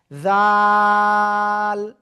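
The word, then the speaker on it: ذال: খেয়াল করবেন সবাই, এই যে অক্ষরটা উপরে জাস্ট একটা নোক্তা হবে, জিহ্বার আগে উপরে দুই দাঁতের আগায় লাগাবো, লাগিয়ে আমরা এটা 3 আলিফ টানে উচ্চারণ করব। জাল, জাল।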